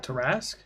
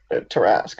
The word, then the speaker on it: tarrasque: texted the turtle one how do you pronounce that I don't know what you I'll try it I'll butcher it but I'll try and say it tarus tap tarts queen of tarrasque Tarasque okay that's yeah if that's a